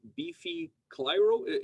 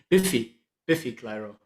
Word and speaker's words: Biffy Clyro: So, in the next band on your list is Beefy Clyro. Am I pronouncing it correctly? Biffy Clyro.